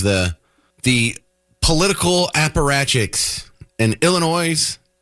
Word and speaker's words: Illinois: So, we have the the political apparachics in Illinois, Illinois. I know the S is silent, sorry.